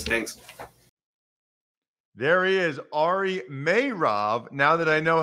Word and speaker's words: Meirov: appreciate your ass thanks there he is ari mayrav now that i know how to say his